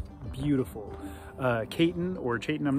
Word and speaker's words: Chayton: I talked to Chayton, and he confirmed that his name is pronounced Chayton, not Chayton or any other pronunciation, so just wanted to drop that in there.